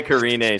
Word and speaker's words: Karine: You even told me how to pronounce her name before we started. Karina. Karina. Karini. Oh, Karini. Close enough. I want to say Karine so bad.